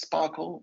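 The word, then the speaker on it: SPARQL: In our case, it's called Sparkle, pronounced Sparkle, like I just did.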